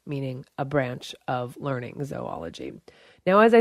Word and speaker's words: zoology: Both pronunciations are acceptable, though zo tends to be perceived as being more in the scientific realm, such as in the word zoology, the branch of biology that studies animals.